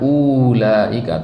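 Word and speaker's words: أولئك: pada kata Ula ya Ini bacanya ulaika atau ulaika pertama kedua kedua ya wwnya dibaca tidak Tidak kenapa wnya tidak dibaca karena ada simbol lingkaran bulat di atasnya Ya kalau dalam ya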